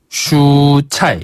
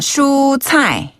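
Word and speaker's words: 蔬菜: 최소 최소를 뭐라고 하죠네 최소를 중국어로는 슈차 슈차이 한번 다 슈차이 슈차이 그렇죠 우리 가수 가운데 슈라는 분 계셨잖아요 그분처럼 슈라 발음 하시고요 차이는 최소할 때 최자를 중국식으로 발음하면 차이라고 해요 슈차이 한번다 슈차 슈차네 그리고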